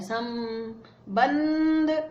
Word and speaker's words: संबंध: अब सम, इसका उच्चारण म हो रहा है, सम बंध, इसका उच्चारण ना हो रहा है, दोनों के लिए एक ही जगह बिंदी टिका दी।